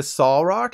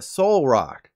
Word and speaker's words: Solrock: Instead of pronouncing the Solrock as in Better Call Saul, think of a soul and call it Solrock.